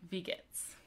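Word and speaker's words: Wie geht's: ask someone how are you you would say vegets and it's spelled with a w so w-i-e but since it's pronounced it'd be vegas so to say great you could say prima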